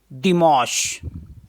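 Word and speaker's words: dimanche: यहां पर है संडे संडे को फ्रेंच में बोलते हैं दि मश इसका स्पेलिंग है यानी कि दे ई एम आ एन से आश अ दि मोश दि मश दिमोस मीस होता है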